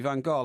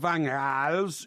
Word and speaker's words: Van Gaal: No, it's Van... G is pronounced with an H. No, yeah, but you ignore the G.